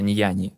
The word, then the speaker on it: Nuanu: Вот район так и называется Нуану. В смысле индозийская территория, ну чуть произносится иначе, называется неяни. Вот. Но пишется как Нуан.